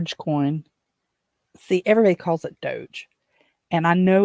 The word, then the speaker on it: Dogecoin: and I said well it's very simple to me it's dog e like dog uh electronic but they call it dcoin and it's uh up